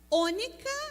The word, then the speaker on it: ônica: estoraque, diga comigo, estoraque, ônica, essa palavra a gente pronuncia ônica, né? Onixa, ônica, mas a gente lê ônica, e gálbano, diga ônica e gálbano.